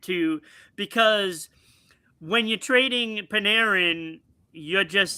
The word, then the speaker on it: Panarin: The New York Rangers, they're moving on from uh Art Art Tammy Perin. Art Paneran. Paneran. I always say his name wrong.